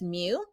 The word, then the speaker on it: mu: symbol that i have highlighted here and it's pronounced as mu both of these are calculated the same so